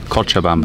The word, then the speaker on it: Cochabamba: Cochabamba.